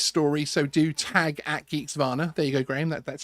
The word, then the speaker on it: Geeksvana: So do tag at Geeksvana.